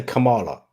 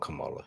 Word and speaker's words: Kamala: It's just they're making it sound like Kamala, the Ugandan giant from WWF days.